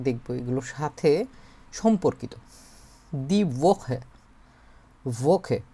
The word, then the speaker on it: Woche: এগুলোর সাথে সম্পর্কিত দিখে ভোখে। এই যে ডাব এর উচ্চারণ হচ্ছে ভি এর মত হয়।